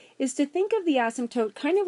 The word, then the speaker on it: asymptote: favorite math words and it is spelled kind of funny and it sounds like you're swearing it's asymptote an asymptote is just